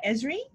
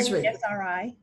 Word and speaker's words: Esri: institute or called israel how do you pronounce it don you can say uh esri or sri esri early in her career